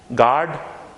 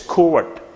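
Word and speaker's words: gourd: Whenever you are saying this word, actually you used to mispronounce it, but it's not guard, it's covert. Covert.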